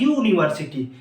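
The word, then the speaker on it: university: क्योंकि देखिए यूनिवर्सिटी, जब ये तो है वॉवेल, हाँ, लेकिन इसका जब उच्चारण हो रहा है यूनिवर्सिटी, हिंदी में क्या आ रहा है, यू, यू, यह क्या है, कॉन्सोनेंट है, मतलब व्यंजन है, स्वर नहीं है, इसलिए यहां पर इसके पहले प्रयोग होगा ए का।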